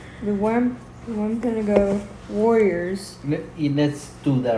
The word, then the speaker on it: Wampanoag: Wampanoag. Yes, do it 3 times. Wampanoag.